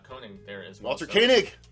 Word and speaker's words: Koenig: yeah okay well and you've also got uh michelle and walter uh conan there as well dr koenig koenig okay proper pronunciation i'll i i will just never forget